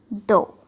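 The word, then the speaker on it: though: और कभी ये जी एच साइलेंट भी हो जाती है, जैसे हाई, बॉट, दो।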